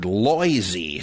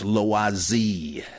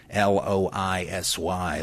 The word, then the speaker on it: Loisy: Seminar, well, as Alfred Loisy said, oh, that's Loisy. L-O-I-S-Y, Loisy. I don't expect you should try to do a French accent, right? But at least, please, Loisy.